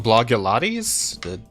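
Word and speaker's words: Blogilates: just again huge numbers blog leades is pronounced as Blog plus Pilates oh blog blog yotes wow that really doesn't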